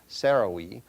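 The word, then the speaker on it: Sarai: Now all this time Abram's wife then known as Sarahi it's actually correctly pronounced Sarahi but in any case Abram's wife had not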